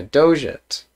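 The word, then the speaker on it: dogate: word and i did not know how to pronounce it but yeah doget that is awesome uh yeah yeah i mean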